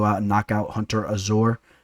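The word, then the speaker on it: Azure: knock out Hunter Azor, or Hunter Azur. I know he pronounces that kind of weird. I know you guys are going to give me some slack with my pronunciation, so let me make sure I get that right.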